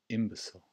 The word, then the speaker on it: imbecile: It's a shorter sil sound at the end.